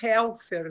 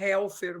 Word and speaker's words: Helfer: A gente fala mais Helfer, né? Sim. O Deutsch tem acento no... É mais pronúncia brasileira ficar Helfer mesmo, né? Agora, alemão é mais complicado, né? No bom Deutsch vai um acento aí, né, Dulce?